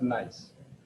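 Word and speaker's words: gneiss: foliated metamorphic rock called nice so even though there's a g it's a silent g so it's pronounced nice so green is the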